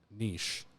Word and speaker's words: niche: found that like there was that you know Niche which is the right way to say it